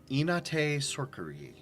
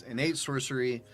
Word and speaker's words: innate sorcery: Sorcerers is level one they get inate sorer uh that the fancy pronunciation it's innate sorcery which is basically like